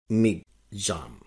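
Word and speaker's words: Michaung: निर्धारित किया जाता है तो यह है मिग जाम एम आई सी एच ए यू एन जी यह जो नाम है मिग जाम ये म्यामार ने दिया है जिसका पुराना नाम है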